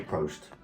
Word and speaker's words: Prost: of cheers, they say Prost. Prost. Prost. Am I saying it right? Yes. Prost. I probably saying you telling No, me. it's Prost.